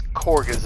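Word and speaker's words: Kagha: Let's see what little Miss Korga's up to. Korga. I don't know how this is Korga, by the way. Kaga is the way it's spelled, but whatever.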